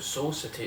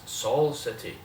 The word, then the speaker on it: Saul City: And we're not talking about Soul City, it's Saul City. Like Better Call Saul City. Spelled with an A and not a O.